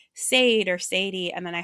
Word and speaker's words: Sade: So my case file is Sade.